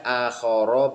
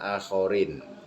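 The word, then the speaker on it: آخَرَ: Au makhlukin atau kepada makhluk, bacanya akhara bukan akhorin ya. Karena akhara itu isim ghairu munsharif.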